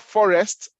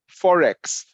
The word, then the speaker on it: Forex: pronounced it's not Forex sorry it's not Forest as in the bush is not Forest it's Forex you know foreign exchange